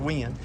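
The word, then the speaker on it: Weiand: Some people pronounce it YN, but I think it's actually supposed to be pronounced wind.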